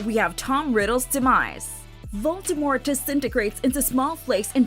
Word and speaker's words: Voldemort: For the first several novels, Jim Dale, the narrator of the Harry Potter audiobooks, appropriately utters Voldemort with a silent T.